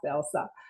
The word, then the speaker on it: Else: a little bit different a lot of people call me Elsie Elise whatever but it is pronounced Elsa and when I came